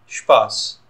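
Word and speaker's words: Spaß: दोनों ही ठीक हैं, लेकिन साउंड ये ऐसे ही करेगा श्पास, इसका मतलब है फन।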